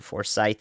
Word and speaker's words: Forsyth: why we do this there may be forces for Scythe thank you Forsyth is the correct pronunciation got it that's why